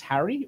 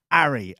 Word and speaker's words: Arry: Is it not pronounced Harry, or is it Ari? Ari, A-R-R-Y. No, he can't pronounce.